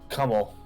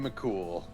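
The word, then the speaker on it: Cumhaill: Kummel. Nope, Cumhale? nope. Because we were talking about Irish folk hero Finn McCool.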